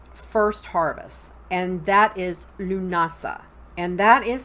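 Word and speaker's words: Lughnasadh: move into the first harvest and that is Lughnasa and that is spelled L ugh na s ADH that's Gaelic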